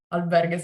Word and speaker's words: albergues: it's pronounced? Okay. Albergues, yeah, Yeah.